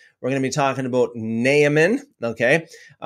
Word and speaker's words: Naaman: We're going to be talking about Naaman, okay? More accurately pronounced as Naaman.